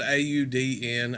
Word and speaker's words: Audn: This is it's spelled A-U-D-N. I believe it's pronounced Audn, and this is self-titled.